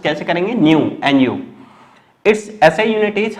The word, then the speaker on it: nu: इट is usually represented by new, Greek letter pronounce कैसे करेंगे, न्यू, NU.